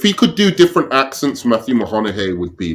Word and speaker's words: Matthew McConaughey: Wait, say his name again. Matthew McConaughey. Okay. You sound like he's a Mahanahe or something. He went, the first two times he said Matthew Mahoney.